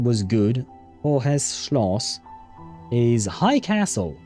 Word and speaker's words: Hohes: Hohes Schloss is high castle. German uses the silent H to elongate vowels.